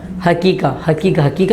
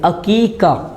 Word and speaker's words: عقیقہ: جو تلفظ ہوتا ہے حقیقہ نہیں، اس کا جو صحیح تلفظ ہے، جو درست اس کا لفظ ہے وہ عین کے ساتھ ہے، عقیقہ، عین قوف یا قوف اور مدہ عقیقہ۔ تو یہ لفظ اپنے